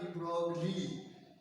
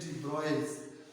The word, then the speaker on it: de Broglie: This is, डियर student, this is नॉट डी ब्रॉगली, this is pronounced as डी ब्रॉयस।